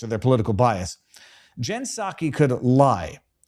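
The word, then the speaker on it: Psaki: And I could acknowledge that Jen Circleback Pasaki, that's not how you pronounce her name, is Saki.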